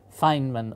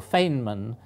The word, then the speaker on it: Feynman: of people are not sure whether you should pronounce it feeman or fainman but if the element symbol is FY they